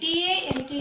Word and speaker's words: talk: In the same way, in the talk also it is the same. T-A-L-K we will write, but while pronouncing we used to say T-A-K, that is talk.